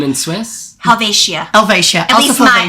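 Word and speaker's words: Helvetia: Alvesia. Alvesia. My Swiss friends last night when I was in Basil told me it is Helvatia.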